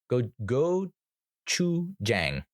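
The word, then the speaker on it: gochujang: pronounce it this day go go Chu Jang is how it if you were to sound it out you know because I'm working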